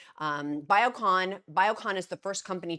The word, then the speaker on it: Biocon: popular medicines the Ben gululu forgive me for mispronouncing that the company's called biocoin um biocon biocon is the first company to win UK